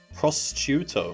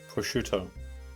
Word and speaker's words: prosciutto: right that sounds dodgy prostitute if you say it wrong prostituto prostituto how can you pronounce that without it sounding like prostitution prostituto that's how you pronounce it right posterior do you print it was i pronouncing it quickly prosciutto is that you pronounce it prosciutto oh okay yeah